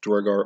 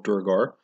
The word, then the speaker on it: Duergar: Thrimnor is a Duergar realm, Duergar or Durgar. Either pronunciation is correct. It's an old Scandinavian word, comes from Old Norse. It literally means dwarves. And in the real world, in different parts of Scandinavia, it actually is pronounced slightly different. Duergar and Duragar. So either one technically is correct.